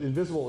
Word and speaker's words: Ynvisible: of a company called invisible interactive invisible dot-com but invisible is spelled with a y in front versus the I if you're let's do